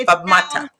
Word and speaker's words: Fatmata: I didn't do it just for over 10 years, but it's Fatmata. Exactly the way it looks. This is how it sounds. Phonetically. Three syllables.